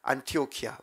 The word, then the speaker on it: 안타키아: 그 지역이 그대로 있어요 안타키아로 안타키아 안티오키아 뭐 발음차인데 안타키아라고도 하기도 하고 안티오피아라고도 하게 돼요 지금 여전히 그 지명이